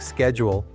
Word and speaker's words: schedule: When it comes to pronunciation, words like schedule are pronounced with a esh sound in the UK, while Americans often use a esk sound.